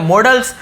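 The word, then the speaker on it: modals: इसे हम बोलते हैं मॉडल्स या मोडाल्स भी कहते हैं, दोनों ही सही प्रोनाउंसिएशन है। मॉडल्स या फिर मोडाल्स दोनों बोल सकते हैं। मॉडल्स हम ज़्यादा यूज़ करते हैं, ठीक है, मॉडल नहीं, मॉडल्स, ठीक है।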